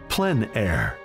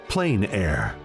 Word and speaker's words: plein air: which means open air or Outdoors the French pronounce it plan air others say plain air no matter how you say it there is